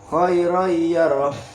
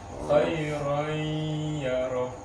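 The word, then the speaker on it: خَيْرًا يَرَهُ: Nah, jadi bacanya tuh Oh. kayak ada dengung sedikit. Bukan cuman khairai, khairai, Oh. tapi ada khairai, ada dengung sedikit. Khairan yarah.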